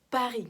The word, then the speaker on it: Paris: По-французски Париж будет Paris, как Пари на крыльях.